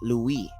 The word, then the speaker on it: Levi: And that would be Levi but it would actually in a bar would be pronounced Louie.